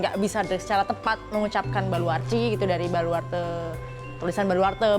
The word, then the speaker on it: Baluarte: Jadi dari kata Portugis gitu, Baluarci gitu. Baluarci. Iya, Baluarci. Tulisannya sih Baluarte ya. Oh, tapi bacanya Baluarci. Baluarci gitu ya.